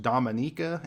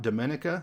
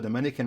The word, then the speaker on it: Dominica: so right away I want to say it's pronounced Dominica and not Dominica there is a country called the Dominican Republic but this island is pronounced Dominica this